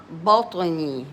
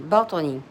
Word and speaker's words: بطني: ياء ما في بطني بطني باء فتحة and then the طاء with a سكون so you give it like echo sound بطو بطو بطو بطني بطني نون كسرة and then